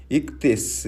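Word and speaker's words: ἰχθύς: 투수 라는 단어를 들어보셨습니까 사실 더 정확한 발음으로 는 이 깨 스 라는 단어인데 물고기 라는 뜻입니다 여러분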